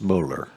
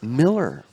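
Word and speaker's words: Moeller: heads by Gary James Muller uh I knew you were gonna catch that one it's Miller he pronounces it Miller mo e lol you and that is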